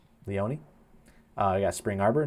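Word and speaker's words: Leoni: Leani, I think is how you pronounce it. I could be wrong. Ryan, you are muted. Leone. Leone.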